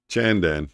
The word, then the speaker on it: Chandan: Is it Chandan or Shandan? CH or SH? I saw you spelled it with a CH, but do I pronounce it with the CH or do I pronounce it with an SH? Shandan, SH, Chandan, CH. Pronunciation, not spelling. Chandan.